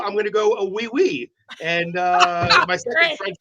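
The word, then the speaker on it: oui: O y is oi. Yeah, oi. Y. But it sounds like w.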